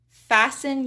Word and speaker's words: fasten: Fasten your seatbelt. Fasten. Listen to me. Often. Whistle. Whistle is whistle. Next up is silent U.